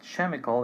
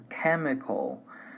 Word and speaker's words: chemical: However, there are many cases, this is one of them, in which the pronunciation is like a K, so it's not chemical, it's chemical, technology, architect.